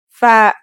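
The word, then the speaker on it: فاء: Fa is pronounced just like the English F.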